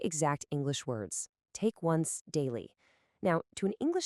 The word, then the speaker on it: once: He misinterprets the English word for a single dose as the Spanish word once, which is pronounced once. And once means 11.